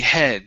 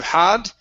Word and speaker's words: head: So here, make sure you're pronouncing an sound, and this is a short E, head, instead of had.